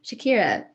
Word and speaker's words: Shakira: So Shakira, did I pronounce that correctly? Yes, you did.